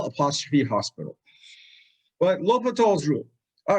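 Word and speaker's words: L'Hôpital: forms and l'hopital's rule it's written as l apostrophe hospital but don't write read it like that he's a french mathematician if you say l hospital your next professor will really give you the eye it's l'hopital although i cannot write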